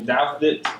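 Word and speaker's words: Douthit: First name Patrick, last name Daphnet.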